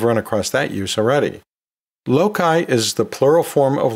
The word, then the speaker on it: loci: The next term on our word dissection list is loci, L-O-C-I.